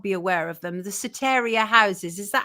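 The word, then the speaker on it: Soteria: The Sataria houses. Is that how you pronounce it? Yes. Or Sotyia houses.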